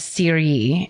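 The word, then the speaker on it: Cheiry: The next day or it's the same Let's see, it's October 5th in um, the Swiss village of Siri, is how it's pronounced.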